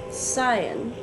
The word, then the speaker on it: cyan: Red, blue, green, cyan. Cyan. Cyan? No. Y, I, and E after the C make a soft C sound like S.